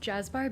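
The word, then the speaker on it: Cazbar: Yeah, so the restaurant it looks like Kazbar, but it's pronounced Jazzbar because it's a Turkish C with a little ch.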